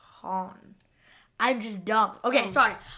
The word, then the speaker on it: Han: No, it's not Huang. It's Han.